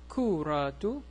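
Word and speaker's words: كرة: So here, this shape, At-ta2 Al-Marboo6a, is pronounced as an H, as a ha sound. Kura. Kura. If I continue reading, it's kuratu al-qadami. I pronounce it as a T, a ta.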